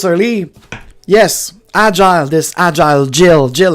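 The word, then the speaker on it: Gilles: a surname in French Jill um J no sorry g i l l s and it's pronounced Jill Jill Jill in French and so you could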